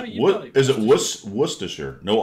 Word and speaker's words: Worcestershire: Worcestershire. There you go. You got it. Is it Worcestershire?